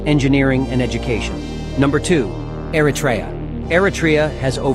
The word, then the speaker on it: Eritrea: Eratria has over 80. Eratraa. Thank you for the proper pronunciation.